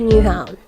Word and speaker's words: Nyhavn: Okay, just FYI, in this whole vlog, I was pronouncing Nyhavn the wrong way the whole time since I didn't know how to actually say it. But after our tour guide taught us how to say it, I'm doing my voiceovers in the proper way.